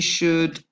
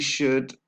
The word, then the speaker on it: should: again don't pronounce little la I believe we should okay so should also don't pronounce the LA and we've got the link between the constant sound ver and were says I believe we should and the stress is on the second syllable